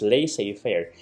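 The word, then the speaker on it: laissez-faire: Yung lay safe fair, ito ganon siya i-pronounce. Lay safir kasi it's a French term.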